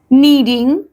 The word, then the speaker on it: knead: You will be के needing the flower.